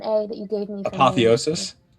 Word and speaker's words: apotheosis: Apotheosis. Apotheosis.